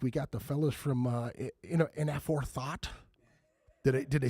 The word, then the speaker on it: Inaforethought: This week we got the fellas from Inaforethought. Did I say it right? Inaforethought.